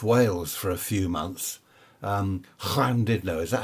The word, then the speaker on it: Llandudno: Llandudno, is that how it's pronounced? Llandudno, up the top of Wales there.